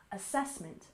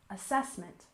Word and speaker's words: assessment: syllable Scholastic Scholastic and assessment we stress the second syllable assessment assessment Al together Scholastic assessment